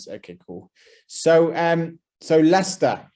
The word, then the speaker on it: Leicester: cool so um so lester as i said pronounced leicester yeah so a really convenient